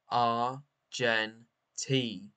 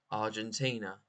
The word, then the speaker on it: Argentina: to pronounce this country AR gentina Argentina Argentina a r j n t Argentina Argentina Argentina the country in South America arent Ina Argentina Argentina